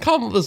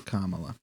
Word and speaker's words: Kamala: And Kamala's like, hey, you're it.